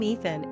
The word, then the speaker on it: Ethen: The name Ethen is pronounced the exact same way as Ethan, so what's getting accomplished exactly?